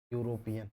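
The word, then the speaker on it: European: pronounce करके देखना है इसको सही पढ़ना यह है यूरोपियन हमें केवल पहले शब्द से मतलब है यूरोपियन में या एक व्यंजन है व्यंजन है इसलिए यहां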